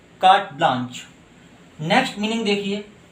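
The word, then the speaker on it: carte blanche: तो इस तरह के जो पेपर होता है उसको हम जनरली एक वर्ड देते हैं कार्ट ब्लांच। देखिए दोस्तों, इसे आप कार्टे ब्लैंचे नहीं पढ़ेंगे, इसका प्रोनाउंसिएशन है कार्ट ब्लांच।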